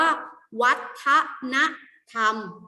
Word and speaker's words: วัฒนธรรม: คือ วัตนธรรม นะ คะ อัน นี้ อ่าน ว่า วัฒนธรรม แปล ว่า อะไร คะ แต่ ว่า 4 ที่